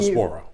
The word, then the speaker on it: Cyclospora: So, let's talk a little bit about this it's hard to pronounce so I'll leave it up to you. Cyclospora.